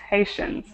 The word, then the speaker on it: Haitians: you're reading this word it should be Haitian Haitians right people from Haiti are called Haitians okay and I notice